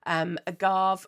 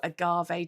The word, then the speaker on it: Agave: This is Hahnemüller's agave, or agave, depending on how you want to pronounce it.